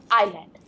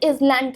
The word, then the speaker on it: island: पर अगर आप इस चीज़ को ध्यान से देखें, बहुत सारे स्टूडेंट, इवन मेजॉरिटी स्टूडेंट इसे इज़लैंड कहते हैं और एस का यूज़ करते हैं during speaking in giving any information.